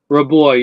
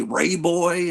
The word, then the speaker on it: Raboy: uh War covers oh yeah is do you pronounce it Mac raboy raboy yeah than that's why I've always pronounced it but I hear people say Ray boy and all this stuff and I'm thinking if